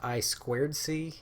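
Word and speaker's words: I²C: the same thing I to see is actually pronounced I squared C it's inter integrated circuit it's just a way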